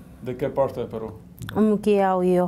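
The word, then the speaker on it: Muquiyauyo: Mukiaoyo, Jauja. ¿Cómo se dice? ¿Ukiaoyo? Mukiaoyo. Mukiaoyo. Sí. ¿Dije bien? Sí, Mukiaoyo. Sí, correcto. Y usted ganó el caso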